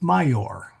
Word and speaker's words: maior: The word major, major, Oh yeah. a perfectly good Latin word, Yeah. spelled maior and pronounced major.